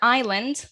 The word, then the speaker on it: island: it's new zealand remember island the s is silent so it doesn't sound